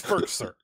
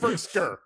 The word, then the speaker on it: Firkser: It's Firkser. Okay, sorry. Not Firkser. Firkser. Firkser.